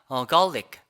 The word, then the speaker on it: garlic: 사실 이것도 갈릭이 아니라 garlic, garlic 이렇게 발음이 되지만 근데 이게 왜 이렇게 되냐면 이 아 발음부터가 다릅니다.